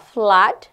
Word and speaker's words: flood: Kemudian apalagi mood ya, itu double O itu dibaca U, tapi seperti banjir tidak dibaca U, tapi dibacanya A, flood, darah, blood.